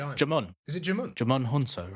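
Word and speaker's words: Djimon: the main villain J Jamon is it Jamon Jamon huno right someone said it was jond the D is silent like Jango all right there we go cuz he's got powers jamun does have powers they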